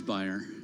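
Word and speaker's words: Bayer: take on bear versus buyer uh well the commercials for their products in the United States say bear bear aspirin uh over in Europe it's buyer so I'm in the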